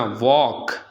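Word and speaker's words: walk: इसी तरह वॉक, के से पहले भी एल आ जाए तो वो एल साइलेंट हो जाता है, पढ़ा नहीं जाता।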